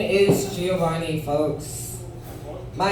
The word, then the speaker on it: Giovanni: So, my name is Giovanni, folks. My name is Giovanni, look at me. But it's pronounced Giovanni. Yeah, that's right, say it with me, pizza place. Giovanni.